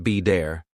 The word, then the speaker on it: better: Americans don't always pronounce the T sound clearly. For example, water sounds like wader, better sounds like be dare, city sounds like sid-e.